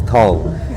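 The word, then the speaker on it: Thong: and I just say my name's Tom t h o n g which mean a a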